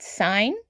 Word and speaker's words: sign: In the word sign, it has the letters G, N. And the letters G and N together make the G silent.